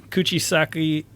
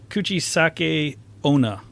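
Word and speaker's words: 口裂け女: ] pronounce it like tits know you have pronounced it that's but I was like it's not a Chinese name Kuchisake no no coochie sake kuchisake-onna oh no yeah put your sock oh yeah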